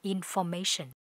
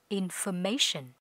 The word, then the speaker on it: information: danh từ thông tin từ này nhiều bạn hay phát âm là information nhưng thực ra nó phải phát âm là information infer các bạn nhé information và có â s nặng ở cuối information câu số 1 để biết